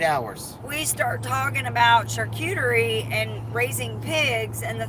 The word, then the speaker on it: charcuterie: enough this weekend I feel confident calling it charcuterie like I'm okay with it but we're about eight hours we start talking about charcuterie and raising pigs and the thing is is